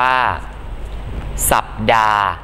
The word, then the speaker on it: สัปดาห์: ออก เสียง นะ ครับ เช่น คำ ว่า สัปดาห์ อ่าน ว่า สัปดาห์ หรือ สัปดา ภาพยนต อ่าน ว่า ภาพยน